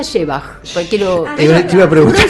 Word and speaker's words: Szewach: Se pronuncia Shebach, porque te iba a preguntar. Se pronuncia Porque eso es un desastre. No, pero bueno, está bien, fonematizado es Le Shebach. puse onda, ¿viste? Shebach, muy bien.